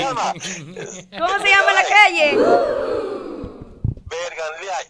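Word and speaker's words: Bergenline: Berganlay, se escribe Berganlini y se pronuncia Berganlay.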